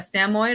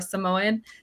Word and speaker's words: Samoyed: our family dog was a Samoyed or a Samoyed, depending on who you are and how you want to pronounce it.